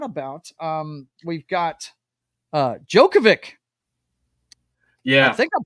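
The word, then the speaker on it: Djokovic: here I forgot about um we've got uh jokovic yeah I think I'm pronouncing that correctly yes that's Novak Jo jokovic yeah he wins uh a gold medal which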